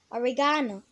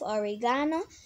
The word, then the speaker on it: oregano: The word is, the British pronunciation of this word is oregano. Oregano. I will use this word in a sentence. She added a pinch of oregano to the pasta sauce.